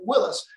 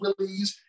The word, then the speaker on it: Willys: and I found that John North Willis did pronounce his name Willis. But then I guess there was a statement at one point made where people started calling the Jeeps Willies.